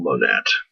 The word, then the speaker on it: Monette: i know his name his last name looks like monet but it's actually pronounced paul monette um paul monette was a poet um